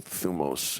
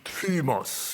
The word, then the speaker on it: thumos: ooh but it is the Upsilon is pronounced in the same way that the modern French U would be so it'd be trimos you know like like